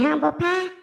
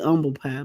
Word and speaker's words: humble pie: all night Crow and Humble Pie it's actually Umble pie but we'll say Humble Pie that's fine we country it's fine